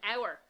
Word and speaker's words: hour: you or silent hechas so an hour so in the word an hour we don't hear the H it's called a silent h so that's why we